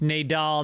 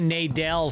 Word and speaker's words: Nadal: Also, Nadal's name is pronounced Nadal, not Nadal. Huh?